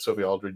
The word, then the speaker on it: Sophie Aldred: Is that how I pronounce it? Did I get it right? Yeah, you did. Okay, you pronounced it correct.